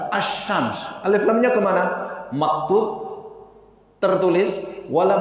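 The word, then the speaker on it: الشمس: tertulis tapi tidak terbaca Bukan al-shams tapi as-syams elektronnya kemarau mabuk tertulis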